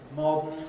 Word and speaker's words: modern: The the phonetics of weak form of modern pronounced with a syabic nasal.